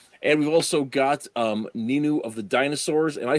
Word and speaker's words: Ninu: glorious dead trees and we've also got um nin of the dinosaurs am I saying that right